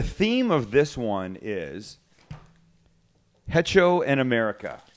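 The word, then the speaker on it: hecho: of this one is heto and America ETO the H is silent is it silent h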